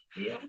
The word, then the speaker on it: Sheol: How do you pronounce Sheol. that? Yeah. Sheol.